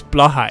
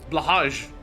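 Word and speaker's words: Blåhaj: I want to, why is it Swedish but it's pronounced Blahai? It should be Blahaj. Blahaj.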